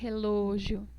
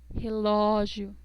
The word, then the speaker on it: relógio: Si ven en la palabra relógio, no decimos relógio, O, decimos O, relógio, José.